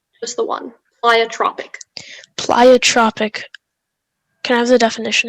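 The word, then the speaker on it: pleiotropic: of a gene plyotropic plyotrophic no listen to me plyotropic yeah uh can i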